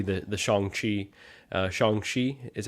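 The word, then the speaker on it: Shang-Chi: Bargain Bin especially the the Shang Chi uh shangshi is how you say it um figures so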